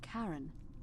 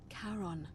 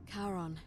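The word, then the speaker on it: Charon: as you described it only your pronunciation is a little off the name you heard wasn't Karen it was c h a r o n as in Caron the ferryman of the Dead karon who in exchange for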